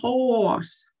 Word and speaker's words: horse: Обрати внимание, звук, как мы его легко, на выдохе. Horse. Минимая и на конце. Мы ее не произносим, здесь не показываем. Минимая и – это та буковка, которая не произносится.